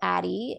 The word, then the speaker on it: Addyi: And it's called Addy. It's spelled ADDYI.